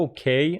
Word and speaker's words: okay: Be careful, the pronunciation of okay. Are you okay on the second syllable?